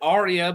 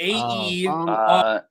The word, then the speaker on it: Aerea: Because I've heard it Aria, but that sounds too much like Aria. Do you guys like Aerea Targaryen? I'm asking. It's Aerea.